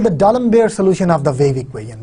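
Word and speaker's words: d'Alembert: this is called the Dalembert solution of the wave equation this is well known Dalembert solution of the wave equation it's written as D alembert's but we pronounce it as Dalembert Dalembert solution of the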